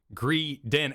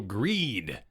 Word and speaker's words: Greedent: Well, I've been informed that make sure you pronounce it as Greedent, as in rodent. Don't go Greedent, because it's not about the greed. It's about the rodent.